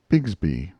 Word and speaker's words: Bixby: you horace biggsbee's cub bixby was usually pronounced bigsby on the river but brown made it